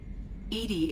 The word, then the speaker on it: EDI: is a jar why are you named edie edie is the phonetic pronunciation of e d that is an acronym